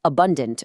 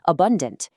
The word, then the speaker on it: abundant: Listen to the incorrect mechi versus the correct mechi and abundant versus abundant.